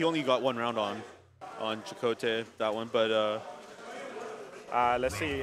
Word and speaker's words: ElChakotay: I said, yo, how do you pronounce your name? I forgot. ElChakotay, okay, yeah.